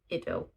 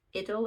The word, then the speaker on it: idyll: like a perfect country idyll. Idyll. The internet says it's pronounced idyll in Britain and idyll in America, but they both sound wrong.